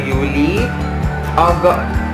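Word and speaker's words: Juli: J, kasi letter Y yung J nila, di ba yung pag-pronounce na. So, June is their uni. July, their Yuli.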